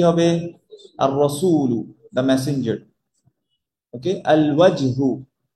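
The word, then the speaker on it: الرأس: আর রসু। ওই যেমন আর রজুলু হয়েছিল, এই যে র ডিরেক্ট আসবে, লাম উচ্চারণ হবে না।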